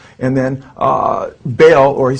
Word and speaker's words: Baal: It's a combination of Jehovah, Baal, and Osiris.